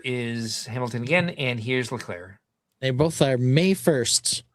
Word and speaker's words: Leclerc: All right, so we've got Hamilton and Leclerc. Leclerc. The C is silent. Leclerc. The C is silent. The second C is silent. Yeah. The first C is hard.